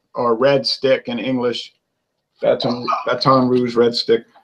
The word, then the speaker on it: Baton Rouge: Baton Rouge, Red Stick. Baton Rouge, like Justin Wilson used to pronounce.